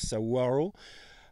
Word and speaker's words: saguaro: je prononce bien c'est ça s'écrit saguaro mais ça se prononce saaro euh ils mettent des